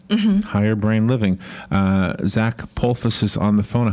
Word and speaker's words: Polsfuss: Yep, the first S is silent. It is Polsfuss.